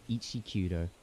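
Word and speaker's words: Eiichi Kudō: His name is probably pronounced Ichi. No, Ichi Kudo.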